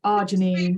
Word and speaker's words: arginine: daughter called Janine, and then you just say it's arginine. But it's anyway, there you go. Yeah, I think Pat has just put that in the chat about the arginine, if that's how you pronounce it. That was a question that we've had a lot as well, is how do you pronounce it? But it is arginine.